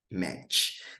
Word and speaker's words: match: Ó, quando você tem esse TCH aqui, ó, ou esse CH, propriamente dito, ele tem esse som batido chiado. Ó. Então a pronúncia é match. Match. Match. Ele faz esse chiado.